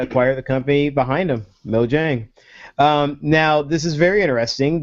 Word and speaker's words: Mojang: Mojang. Yeah. Mojang.